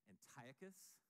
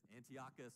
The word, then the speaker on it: Antiochus: Well, one of the Syrian kings was named Antiochus the Fourth Epiphanes. Ash and I argue over how to pronounce it. Antiochus or Antiochus, we can go either way.